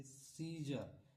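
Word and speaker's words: scissors: सीजर एस के बाद ये एस है। इसके बाद क्या आया है? सी अब इसलिए यहां पे सी क्या है? साइलेंट सीजर है ना सीन।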